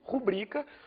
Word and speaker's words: rubrica: deslocamento da sílaba tônica o que deveria ser pronunciado com a tônica não e rubrica é pronunciado com a tônica no rubrica isso pode acabar gerando